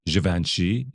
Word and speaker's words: Givenchy: And Ansel Elgort does a wonderful job as Givenchy.